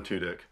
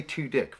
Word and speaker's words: Tudyk: Now, first off, Alan Tudyk, how did that joke ever pass me by? I mean, I know I pronounce things really badly, but it does say Tudyk, right?